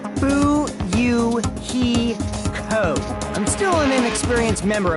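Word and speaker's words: Fuyuhiko: last name is my first name is pronounced boo you he code i'm still an inexperienced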